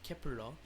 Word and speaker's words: Kep1er: nine members of kepler the name kepler pronounced in korean as kepurang which was also announced